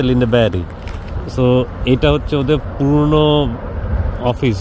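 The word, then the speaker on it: Lindeberg: premium shooting and শার্টিং যে লিন্ডে মানে ইংরেজিতে লিন্ডেবার লেখে কিন্তু সুইডিশ উচ্চারণ হচ্ছে লিন্ড ব্যারি এটা হচ্ছে ওদের পুরন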